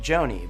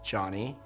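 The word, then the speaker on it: Jony: talk about mispronouncing names for example my name is johnny spelled j-o-n-y and it's normal for someone to pronounce my name like joanie but if i were to tell you over and over again my name is johnny and you insist on mispronouncing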